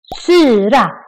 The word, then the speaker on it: syra: These words are quite similar, but just by pronouncing the word in the long version or the short version, the meaning changes. Syra, acid, syrra, sister, but slang. Syra, syrra, big difference.